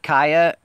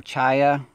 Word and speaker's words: chaya: The kaya or chaya, I've said it wrong 1,000 times, according to most of you.